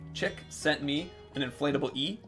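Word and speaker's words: Csikszentmihalyi: Chick sent me an inflatable E. Me. Csiksentmihayli.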